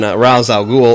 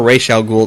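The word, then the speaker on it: Ra's al Ghul: so F focused on Rous Al ghoul or R Al ghoul depending upon how you want to pronounce it which I love who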